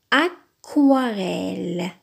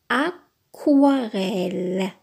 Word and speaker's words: aquarelle: On appelle ce genre de peinture une aquarelle. aquarelle. Regardez, c'est pas aquarelle, mais aquarelle. Aquarelle. Même prononciation, regardez.